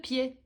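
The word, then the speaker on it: pied: Bo pi wymawiamy tak samo niezależnie od tego, czy mowa o jednej stopie czy o wielu stopach, bo to s w liczbie mnogiej jest niem.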